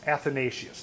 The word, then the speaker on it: Athanasius: oneaus authentic let's see I forgot how to pronounce it uh athanasius athanasius athanasius that's it the Temple of immortality so if we take that spelling add it up it also is 864.